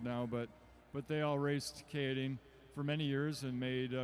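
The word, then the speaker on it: Keirin: Oh, yes, the Kieran race is actually pronounced Kidding.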